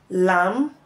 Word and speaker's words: lamb: subtle death doubt WR letter B can as well be silent after letter M in word finals for example lamb tum k womb thumb